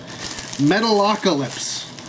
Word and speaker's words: Metalocalypse: Yeah, I pronounced that correctly. Metalocalypse.